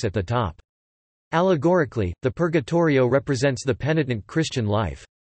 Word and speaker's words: Purgatorio: Purgatorio, pronounced P-U-R-T-R-J-O, Italian for purgatory, is the second part of Dante's Divine Comedy, following the Inferno, and preceding the Paradiso.